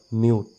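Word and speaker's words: mute: তাৰ সেই নামটোৰে সাউন্ডটো হৈছে ম ইউ ত মিউট ইটো সাইলেন্ট হৈ আছে হ ইউ জ হিউজ হ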